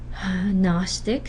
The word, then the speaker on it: Gnostic: Gnostic, somebody who knows, G gets dropped, right? Another before a nasal sound. There's a before nasal sound, but if it's not the syllable initial sound, it stays agnostic.